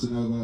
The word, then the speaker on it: Geonovah: Like I said, my name is Genova. I'll spell it again.